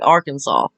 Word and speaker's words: Arkansas: name of the state, Arkansas. Mispronounce it, or? Yeah, mispronounce it. Well, buddy, I can't help my dialect, alright? This is just what it is. Well, no, it's pronounced Arkansas. We say it correctly.